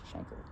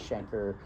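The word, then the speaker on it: chancre: I is do you pronounce it shanker or canker? I think it's shanker. But why do we say canker?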